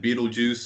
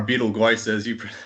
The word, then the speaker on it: Betelgeuse: Okay, and like as I'm sure you know, some of the stars like Rigel and Betelgeuse are or Betelgeuse as David or you pronounce it.